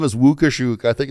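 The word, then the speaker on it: Łukaszuk: he posed, but his name's actually pronounced Wukushuk in Polish. You'll talk to Eva about that when she comes on. Serious. His name is Wukushuk.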